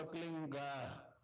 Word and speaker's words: क्लीं: फैलेगा, उसका होता है एक शब्द क्लींग शब्द कै आधा ला में मिला हुआ, बड़ी की मात्रा और बिंदी, उसका उच्चारण होगा क्लींग गा। गा की ध्वनि निकलेगी पीछे।